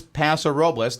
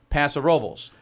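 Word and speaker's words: Paso Robles: it is it is pasor robas that's how you pronounce all those letters together here I say pasor robas those who have lived close enough to it forever and ever amen pass the robbles yeah although and I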